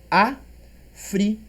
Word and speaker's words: África: África. Antepenúltima é a mais forte, proparoxítona, real, né?